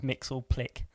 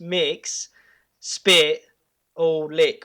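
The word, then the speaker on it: Mxyzptlk: say it but the one i found most people agree on is mix or click oh okay in the in the animated series he pops up and he says it's pronounced mix spit or lick or something like that and then yeah something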